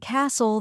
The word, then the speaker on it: castle: H is silent and Castle the t is silent that's true and the